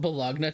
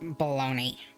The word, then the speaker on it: bologna: piss some people off some people are so particular like it's actually it's pronounced baloney it's like okay so